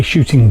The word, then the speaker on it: chuting: is what we call a shooting board. Um it's spelled s spelled c h u t i n g I believe it's it's French.